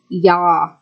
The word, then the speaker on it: Yah: The first 2 vowel letters are Yod-He, and according to Strong's Concordance number H3050, it is pronounced as Yah.